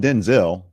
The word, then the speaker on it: Denzel: So he is Denzel, not Denzel. Washington said he doesn't mind either version, just want to set the record straight.